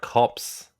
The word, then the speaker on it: Corps: pronounce, Corpse you don't is in- pronounce the P. It's silent. Hard Corpse. Hard Cops.